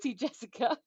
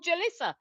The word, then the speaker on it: Jalissa: it does for boy Jessica oh Jalissa apologies I was calling you Jessica I need to put my glasses on Jalissa I was pronouncing your name wrong very naughty of Me